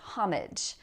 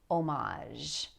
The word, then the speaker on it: homage: Now notice also that the H here is silent, and that's another thing